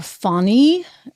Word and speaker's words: Fani: and Jack Smith and Fanny will or funny as she likes to be called and as Rachel mat